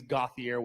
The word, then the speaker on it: Gothier: this level colton gothier which it is gothier we know now by the way how to pronounce it um true freshman has